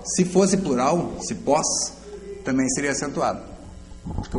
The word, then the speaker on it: também: Se eu for separar, também. Sílaba tônica, bem, não é também, né? Também. A oxítona termina em EM.